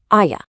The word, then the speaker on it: allá: Remember our rule about the double L? It sounds like a Y, making allá sound like allá.